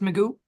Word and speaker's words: Magoo: You said your last name is pronounced Magoo.